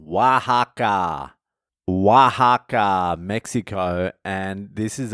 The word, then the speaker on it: Oaxaca: long day of travel but I'm here in Waka that's how you pronounce the name Waka Waka Mexico and this is a cool town